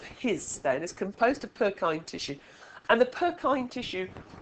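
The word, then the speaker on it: Purkyně: Purkinje. Yeah, it's not. The way they spell it now is Purkyne. So that is to make us pronounce it properly. It's Purkyne.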